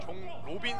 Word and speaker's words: 종로빈: 강남 SK의 23번 종로빈 선수. 저희가 종도빈이라고 읽었는데 네네네. 이름이 로빈이네요.